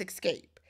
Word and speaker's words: Xscape: they own it and y'all know Escape is spelled not the typical way it is X SK a x s c a p e why did I say k that's how it's spelled right so take off that first e put a x so Tasha and Tama